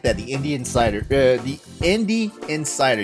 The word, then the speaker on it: Indie Insider: The Indie Insider. You have to say it right, or it sounds like Indian cider.